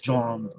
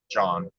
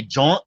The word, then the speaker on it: jawn: It's you can throw in thing and John. John is another word for thing. Rhymes Person, with place, yawn. or thing. Yes, yawn, John. John. Some people say jaunt.